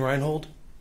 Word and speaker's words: Reinhold: Please keep your voice up, and if you would, please state your name and spell it. Detective Reinhold.